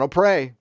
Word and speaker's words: O'Prey: It just looks like Bird of Prey. So O'Prey.